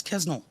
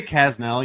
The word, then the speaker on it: Kasznel: I say Kasznel usually, but like there's an S and a Z. There's too many consonants.